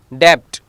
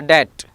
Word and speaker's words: debt: Debt, it is not a debt, it is a debt. Crumb, thumb, doubt, comb, so these are the silent letters B.